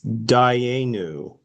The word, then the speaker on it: Dayenu: And then Okay, the response, the transliteration yeah, pronunciation is Dayenu.